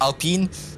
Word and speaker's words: Alpine: is that that would be cury in the Alpine Alpine uh yep that is the AL of Curry yep it's pronounced Alpine um and he is about to get ped